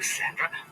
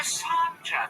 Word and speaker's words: Sandra: a dog like you Sandra no santra it's French pronunciation she smar too and